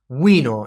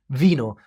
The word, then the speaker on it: vino: I bet you're not used to saying wino instead of vino, but here is a